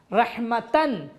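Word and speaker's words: رحمة: भी हम हटा देंगे, ये बदल जाएगा हे में, रहमतन, रहमतिन, रहमतुन हो जाएगा रहमा, इसको हम हे में बदल देंगे रहमा, और ये साइलेंट हे होगा, साकिन हे होगा।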